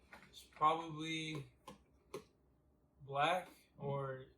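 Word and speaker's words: 6lack: Number 2 is probably Black or 6 like. I don't know. It's pretty Really cool. Black. My friend went to his concert, and it says Six Flag, pronounced black.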